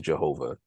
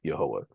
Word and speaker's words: Jehovah: In English pronunciations, you may hear the word, or the name pronounced as Jehovah, but the Hebrew pronunciation of Jehovah would be Yehovah.